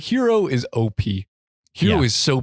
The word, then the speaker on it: Hiro: Because that is like how Japanese pronounce R's. It's got like a little D sound.